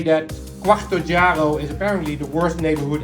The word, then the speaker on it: Quarto Oggiaro: First of all, its name is Quarto Oggiaro. I even practiced the pronunciation of that name before I started this trip today. And yet, in most, if not all cases, I hear myself say Quattro Oggiaro.